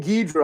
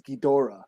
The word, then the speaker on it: Ghidorah: you know Thanos Thanos or ghidro like it was King ghidra all my life until like I heard the Japanese say it's Ghidorah no or MF Doom